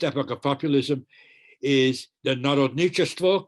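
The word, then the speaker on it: народничество: But the first epoch of populism is the Narodnichestvo, correct pronunciation.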